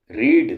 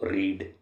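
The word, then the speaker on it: read: में इनका फर्क है क्या है कि फर्स्ट फॉर्म तो बोलेंगे इसको रीड और सेकंड फॉर्म बोलेंगे इसको रेड थर्ड फॉर्म भी इसको बोलेंगे रेड इसलिए वी हैव रेड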